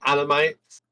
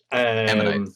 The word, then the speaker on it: ammonites: I found animates. Ammonites, yeah.